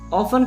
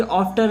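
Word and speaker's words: often: ऑफन कहते हैं प्राय। अब तुम बोलोगे सर ये ऑफ्टन है, ऑफ्टन नहीं बोलते इसलिए, यहाँ पर टी साइलेंट रहता है, ऑफन बोलते हैं।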